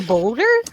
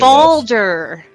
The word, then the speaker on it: Balder: He's referring to Balder. Thank you. yes. Balder. Yeah, the Yeah, Norse. so it was a pronunciation thing.